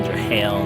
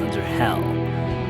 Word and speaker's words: Underhell: Underhell, not Undertale, not Underhale, it's Underhell.